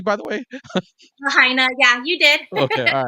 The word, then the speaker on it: Lahaina: pronounce that correctly, by the way? Lahaina, yeah, you did.